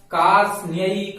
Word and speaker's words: कार्ष्ण्यैक: यहां अच्छे से देखें, आधा रा, आधा ता, आधा सा और आधा न, ये चारों अक्षर आधे आधे हैं। चारों का उच्चारण एक साथ अपन को करना है। कार, रा को पहले बोलेंगे, कार्ष्ण्यैक, कार्ष्ण्यैक, कार्ष्ण्यैक देश